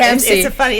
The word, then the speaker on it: CAMSC: Yeah, CAMSC. It's a funny pronunciation, but it's CAMSC.